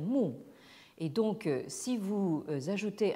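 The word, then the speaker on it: 木: quel végétal, une plante, qui se prononce en chinois moderne mu.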